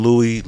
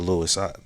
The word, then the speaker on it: Louis: man Louis the hippie, is it Louis or Lewis? This isn't the first time I put up some of his content and got the name wrong. I know it's Louis the hippie.